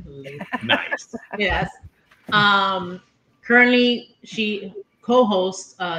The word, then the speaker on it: Latham: Latham.